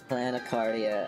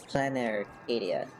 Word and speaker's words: Planarcadia: Planecardia. I have no idea. I need to listen to how they say it again. Planarcadia. Planecardia. No, it's Planarcadia.